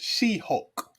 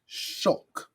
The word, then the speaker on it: She-Hulk: I'm gonna show it you mean She-Hulk brother I think her name is pronounced She-Hulk nothing she would appreciate being called shulk uh she is a